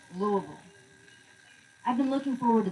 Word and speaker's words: Louisville: Pronounced Louisville.